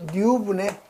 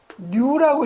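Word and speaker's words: ν: 그래서 요거 계산하면 파이 d 누분의 4q가 되는 거죠. 그래서 여러분 요거 읽을 때 요거 동점도는 뉴라고 읽어요. 누 또는 뭐 뉴 하는데 뉴.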